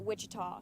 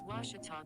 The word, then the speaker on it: Ouachita: ouachita sports digital network i've heard people say oh a cheetah oh wichita oh a back in texas everybody pronounces it wichita but really it's ouachita washington washington how would you pronounce it it's washita baptist university get it right it's watertall people it's